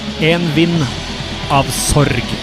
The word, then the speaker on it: En Vind Av Sorg: Pronunciation of this song in correct Norwegian would be En Vind Av Sorg.